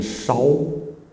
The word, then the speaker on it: 少: 哦，这个少啊，它这里是个多音字，它这里应该要念稍，再念一遍呢，见稍为缘，稍微的稍。